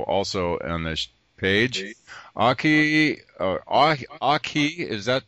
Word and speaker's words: Akahi: to their show also on this page AI a AI is that pronounced right aai is my name aai okay Akai and Camila